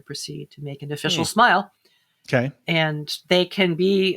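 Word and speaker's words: smial: These Smeal? Smile. SMIL. Yes, sorry.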